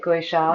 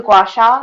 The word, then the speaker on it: gua sha: Gua sha? The gua sha.